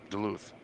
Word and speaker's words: Duluth: Is that how you pronounce it? Duluth. Yeah, Duluth.